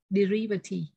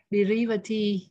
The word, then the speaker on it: derivative: nhận chữ thứ hai nhưng mà không đọc là rai mà đọc y, derivative, derivative hoặc là secondary.